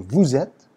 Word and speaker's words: vous êtes: So vous êtes. Here you'll have the liaison, S to E, vowel sound, vous êtes, but this is silent.